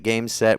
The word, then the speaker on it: Gēmusetto: the problem is with how it's spelt. Like when you hear it said, you're like, makes sense.